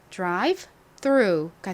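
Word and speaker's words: drive-through: 않지만 예외적으로 묵음으로 소리가 나지 않습니다 그래서이 단어의 발음은 Drive 3가 됩니다 한국식으로는 드라이브 스라고 발음을 하는 경우가 많은데요이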